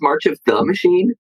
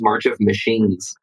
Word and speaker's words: March of the Machine: yes yes Uno is March of the machine the amount of times I've heard it mispronounced as March of machines but it is oh